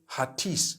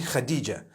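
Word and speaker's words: Hatice: t i c e I would say hatis for that no it's actually Khadijah in Turkish that's the way they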